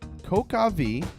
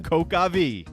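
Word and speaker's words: coq au vin: wine rooster with one coca v coca coca V actually can be pronounced coke like Coca Cola yes or talk again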